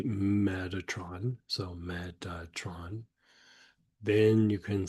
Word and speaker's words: Metatron: So the idea of saying Metatron is a casual pronunciation, right? So you can say meth tron, or you can say meth ra tone. Right? So you can say it either way.